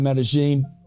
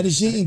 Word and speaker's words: Medellín: it the right way am I saying it right yeah yeah yeah that took me a year to say it the right way medene baby medine man the people are